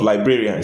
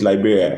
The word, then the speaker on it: librarian: the video started with the pronunciation of librarian some people still pronounce it Liberia and thank God we